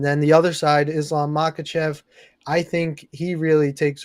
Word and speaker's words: Makhachev: And if you're going to take Makhachev, right?